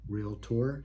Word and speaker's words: realtor: for in a realtor notice I pronounced that correctly realtor two syllables are you interviewing other